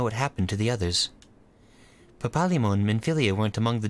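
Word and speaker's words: Papalymo: Smo says Papalimo. Okay. That makes sense. It's like even syllables. They're like even pronunciation for every syllable. That's a very Japanese way to do it, so okay.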